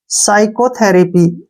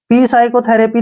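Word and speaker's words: psychotherapy: ए पी वाई तो पी और एस यानी कि एस से पहले पी आया तो पी को छोड़ देंगे इसको पढ़ेंगे हम यहां पे ध्यान से देखिए यहां से यहां तक पढ़ते हैं इसको साइको क्या पढ़ेंगे साइको ठीक है ना साइको और यहां से यहां तक थेरेपी टी एच ई आर ए पी वाई थेरेपी साइकोथेरेपी ठीक है ना पी साइकोथेरेपी नहीं है ये सिर्फ साइकोथेरेपी है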